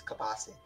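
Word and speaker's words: kielbasa: oh I love that kubasa kubasa kubasa uh if you're from Canada it's it's a nice big chunk of kubasa where I'm from because always put your pronunciations it's kabasi moment I I got to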